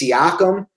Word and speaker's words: Siakam: And then that's I think it's Siakam. I always forget how to pronounce his name, but the dude can play.